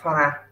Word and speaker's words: farad: F đọc là farad.